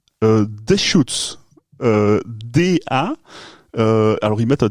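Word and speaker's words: Deschutes: nom de la brasserie et donc ça se prononce des shots DA alors il mett un tir s h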